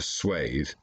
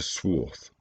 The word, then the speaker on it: swathe: with its pronunciation degraded you do not cut a swathe through something you cut a swarth the rest of the